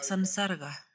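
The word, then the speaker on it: saṃsarga: Por sí mismo, sam, cuando se combina con S cambia a S-A-N. La pronunciación cambia a san, sansarga. Entonces san- significa 'juntos', viene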